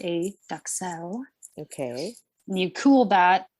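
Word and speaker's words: duxelles: Then you're making something called a mushroom duxelle, which what? Duck? Cell? It's mushroom duxelle. Duxelle. I think it's a French something or other. Sorry, it's not duck quack. It's duxelle.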